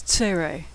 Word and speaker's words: tsere: Next is tsere, 2 dots side by side. It's pronounced like the A in neighbor or they.